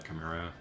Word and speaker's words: chimera: very polite about it but corrected me that's pronounced uh chimera but nowadays like whenever i think about that